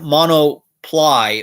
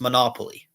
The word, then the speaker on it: monopoly: So it's like monoply, but it's supposed to be pronounced monopoly. So that's something that there was some confusion on.